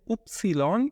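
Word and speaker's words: Ypsilon: ওয়াই এবং জেড, ওয়াইকে বলতে হবে উপসিলন এবং জেডকে বলতে হবে সেট, সেটটা অনেকটা কাছাকাছি কিন্তু ডাব্লিউটা পুরাটাই পরিবর্তন, তো ওয়াইকে বলতে হবে উপসিলন উপসিলন এবং সেট, উপসিলন সেট।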